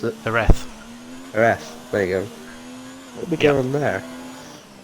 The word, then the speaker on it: Jerez: Jerez, how the bloody hell you pronounce it? Jerez.